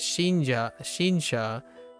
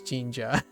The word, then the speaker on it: 神社: I thought it was Shinsha instead of Jinja.